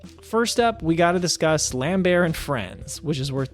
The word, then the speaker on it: Lambert: to let you know, I think his name is actually pronounced Lambert, but I still love saying Lambert because that's how he was introduced to me somehow, so I'm still going to call him Lambert, and if you don't